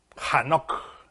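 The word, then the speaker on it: חנוך: whose name was enoch hanok is how he said because beginning with but we said enoch the thing is this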